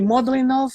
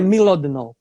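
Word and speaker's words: Mlodinow: Livros, Subliminar, do Landon, eu chamo de Modlinov, mas eu já ouvi a Inês falar, eu acredito que pode ser a pronúncia certa, que é Milodnov.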